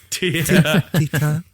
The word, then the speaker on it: Titane: How do you pronounce it? Titane. Titane.